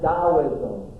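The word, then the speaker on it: Taoism: bit and that is daoism. That's that's spelled T A I SM. T AO and it's pronounced Daoism.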